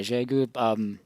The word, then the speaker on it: Xiegu: One reason I chose that one over some of the other wire antennas is that the Xiegu can put out 20 watts, and so this